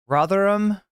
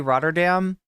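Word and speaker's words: Rotherham: right it's like um rotheram am I pronouncing it correctly I always want to say roddam this is definitely not rdam though Roder Dam's in the Netherlands but this is ro ro Ram I think I'm pronouncing it correctly maybe um Liverpool um oh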